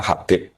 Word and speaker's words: Habib: Itu di harakatnya kitab itu ada yang nulis khubb. L yang benar. Oh, nggih. Yang benar itu bacanya Habib.